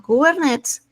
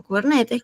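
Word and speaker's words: Kubernetes: herramienta que se llama cubernets o cubernetes, como lo quieran pronunciar y va a ser extremadamente complicado hacerlo My Sequel.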